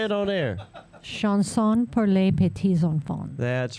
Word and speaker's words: Chanson pour les petits enfants: Chanson pour les petits enfants.